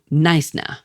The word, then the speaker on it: Knysna: My first major stop was Knysna. Now, it's Heads, two dramatic cliffs guarding a lagoon entrance, and it's spelled k n y s n a.